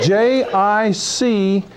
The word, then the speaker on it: jicama: we call this a jicama it's spelled j-i-c-a-m-a and we pronounce it jicama because in spanish that j is pronounced as an h and when you cut